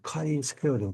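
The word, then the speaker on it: chi-squared: 카이 스퀘어드. 그래서 CHI를 카이라고 읽고 스퀘어드 SQ를 따가지고 실제 그 함수도 CHISQ로 돼 있어요.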